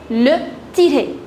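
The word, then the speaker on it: le tiret: A dash is known as le tiré.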